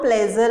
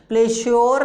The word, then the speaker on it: pleasure: जैसे कि PLEASURE में इसको हम प्लेजर बोलते हैं, प्लेश्योर नहीं बोलते।